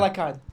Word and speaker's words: Elakkad: Elakkad.